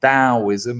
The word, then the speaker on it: Taoism: Bassett says, I quite liked Semiagog and Academic Agent the other night, but his take on Taoism, or Taoism as it's pronounced, was a little off in my view.